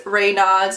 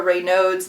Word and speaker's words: Raynaud's: So I went to the general doctor and he said that I've heard it pronounced two different ways, Raynaud's or Raynaud's, but my brother has